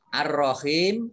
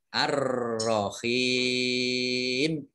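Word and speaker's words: الرَّحِيم: Ar-Rahim alif lamnya juga alif lam syamsiyah tidak dibaca. Langsung masuk ke huruf berikutnya yaitu ro, ditandai dengan tasdid. Ro-nya dibaca double. Ar-Rahim.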